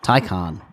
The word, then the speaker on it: Taycan: How to pronounce it. Taycan. Yeah. Taycan.